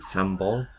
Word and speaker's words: sambal: They pronounce it sambal. I think I say sambal.